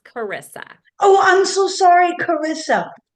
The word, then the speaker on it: Charissa: And my name is pronounced Charissa.